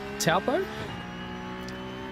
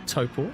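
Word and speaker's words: Taupo: I grew up in a place called Tapo Toppo I should say the correct pronunciation.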